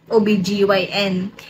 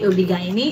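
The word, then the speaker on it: OB-GYN: gn ob G obig ob gyn kasi Yun daw yung sabi Yun daw dapat i-pronounce sabihin na obgyn hindi obig ob gine B ganon Basta bahala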